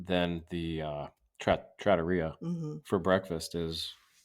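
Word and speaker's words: trattoria: whatever you feel like proper pronunciation is Tratoria but here's the thing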